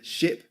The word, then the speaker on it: ship: Okay, ship is a short sound.